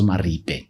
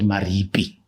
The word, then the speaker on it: Maripe: came to South Africa, they couldn't pronounce Maripe. They called it Maripi.